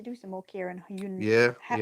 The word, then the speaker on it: Hyundai: probably need to do some more Kia and Hyundai. Hyundai, isn't it? Oh, yeah, Hyundai. Yeah, Hyundai. Got to get the pronunciation right.